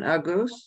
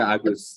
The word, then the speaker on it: Agoes: Is that the pronunciation, Agos? Yes. Agos.